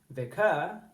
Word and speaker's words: vicar: And in vicar, you wouldn't say vicar, you'd say vicar, your turn. So it's the first syllable in those words that rises when you say it. So you say vicar, and the at the end is the schwa.